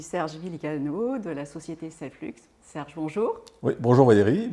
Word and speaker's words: Selflux: en aparté qu'on dit Selflux. Oui, voilà, ouais, parce qu'on parle des flux, les flux de production, donc je ne prononce pas le X à la fin.